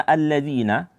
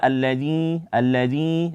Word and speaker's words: الذين: Kemudian di kata alladzina, terjadi sering kesalahan di balik kita adalah kita membacanya itu mengeluarkan suara dari hidung, itu mengeluarkan dengung. Sehingga dibaca alladzi, keluar suara dari hidung. Sedangkan zi itu makhrajnya bukan dari hidung, ya. Jadi dibaca seperti biasa saja, alladzi, tanpa ada suara dari hidung.